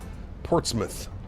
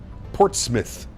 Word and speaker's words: Portsmouth: As a New Englander, I feel it's my duty to tell you that it's Portsmouth. Portsmith. Correct.